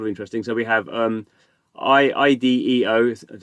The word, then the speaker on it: IDEO: So we have IDEO, that's how you say it, Ventures.